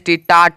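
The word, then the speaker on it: taught: का तो निकला है साउंड टी का तो उच्चारण निकला है ठीक है टी ए यू जी एस टी टाट टाट मतलब होता है पढ़ाया यहां पे भी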